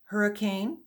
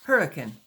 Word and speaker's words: Hurricane: understand Caroline pressed further when you say hurricane do you really mean hurricane she said emphasizing the cane well nobody pronounces it like that in Utah we just say hurricane Caroline felt squelched maybe